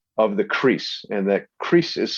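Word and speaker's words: kris: like swishing sound of the crease and that crease is spelled k r i s um and the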